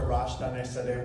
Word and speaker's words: Arash Daneshzadeh: Arash Daneshzadeh. Well done on the pronunciation.